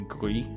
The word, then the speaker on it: Gris: I think I said Greece, and I think it's actually Gris.